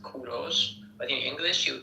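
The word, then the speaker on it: کوروش: English people call him Cyrus, but in Persian we call him Kuros. In Persian it is pronounced Kuros, but in English you call them called him Cyrus.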